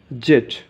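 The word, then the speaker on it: Z: এটা ব্রিটিশরা উচ্চারণ করে সাধারণত জেড, ব্রিটিশরা জেড উচ্চারণ করে ঠিক আছে, আর আমেরিকানরা বলে জে, জে।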